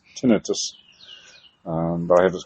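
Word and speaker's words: tinnitus: I have really bad what I recently found out is it's not pronounced um tonitis. It's tenetus.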